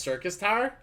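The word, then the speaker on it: Syrcus Tower: outside world to work then yes oh it's pronounced circus Tower oh okay so circus Tower well thank you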